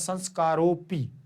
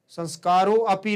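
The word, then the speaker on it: संस्कारोऽपि: ध्यान रखना संस्कारों की तो उसे बोलने वाले को समझ में आना चाहिए की यहां पर ए है सामने वाले को समझ में नहीं आना चाहिए की आपका उच्चारण किया जा रहा है मुख से बाहर नहीं निकालना चाहिए संस्कारोपी ऐसे पढ़ेंगे संस्कारों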